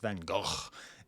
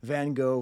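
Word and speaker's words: Van Gogh: now of course the problem is it's actually pronounced vano but that's okay van go van go paint your house you know red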